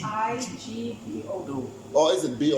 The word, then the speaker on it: Igbo: I-G-B-O. No. Or is it B-O? Yeah, There was a B. Yeah, there was a B. So, and then that's the Igbo. So the G is silent.